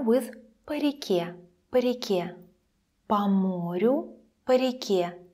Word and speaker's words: по: Compare with по реке, по морю, по реке. In по реке, on the river, по sounds even shorter.